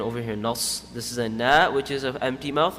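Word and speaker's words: أنا: Ana is one of them. Ana is always pronounced ana, not ana.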